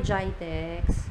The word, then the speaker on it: Gitex: Um yung ch Tex Dubai gitex or GTX Hindi ko alam kung anong tawag whatever you can Maala na kayo kung paano magpronounce It's git ex yon mga gadgets yon